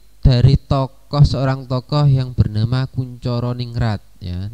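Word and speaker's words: Koentjaraningrat: Jadi pengertian yang pertama itu dari seorang tokoh yang bernama Kuncoro Ningrat ya. Nah, itu ejaan lama ya, ejaan lama itu tulisannya seperti itu. Tapi pembacaannya ini adalah Kuncoro Ningrat tuh ya.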